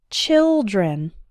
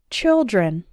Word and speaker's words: children: while and smile child but the eye sound in children is like the ill sound in fill and pill children repeat again after me one child two children a similar thing happens